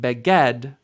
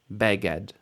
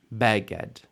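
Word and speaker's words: בגד: the stress goes sometimes this isn't Beed this is beged beged here the difference it's not beged it's beged beged means an article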